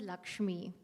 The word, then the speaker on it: LXME: Okay, it's not LXMI, it's LXME, and it's pronounced as Lakshmi.